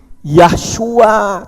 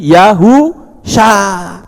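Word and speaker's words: יהושע: Yod He itu membacanya Yah, itu betul. Tapi ketika belakangnya dikasih huruf waw, maka bukan lagi Yahshua. Tapi kalau Yah ada huruf waw, itu dibaca Yahu. Shin ayin sha, jadi Yahu sha.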